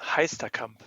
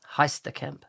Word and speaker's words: Heisterkamp: you made already it's fantastic now did i pronounce your last name correctly how do you say your last name it is heistacamp heistercamp very good and where did your twitter handle